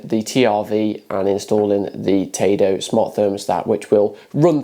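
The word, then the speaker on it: tado°: Yes, that's right, Tado, not Tado, as I pronounced it in this video.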